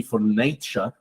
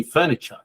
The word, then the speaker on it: furniture: instead of for nature it's not supposed to be for nature it's supposed to be Furniture right H so again